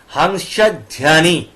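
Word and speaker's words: Hansa Dhwani: ওয়া ডি এইচ ডব্লিউ এ ধায়মি ঠিক আছে হাংসা ধ্যানি তাহলে কি হলো হাংসা ধুয়ানি স্টুডিও আর এখানে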